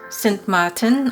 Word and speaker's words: Sint Maarten: let's get this right it's pronounced sint martin on the dutch side and samatan on the french side we spent two weeks